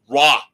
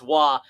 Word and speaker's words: Roy: You're not saying it right. It's Roy. Spelled Roy. Yes. Mark Crawford was their coach during that run. Did not remember that. I don't know why, but Patrick Roy has always stuck with me. Because he's one of the greatest goalies. And because his name is not pronounced the way it's spelled.